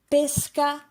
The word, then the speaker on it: pesca: For example, maybe the most famous example in Italian, pesca and pesca.